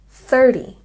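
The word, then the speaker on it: thirty: help you is that the T sound in these numbers will sound more like a D sound it's a softer T this number we say 30 you can hear that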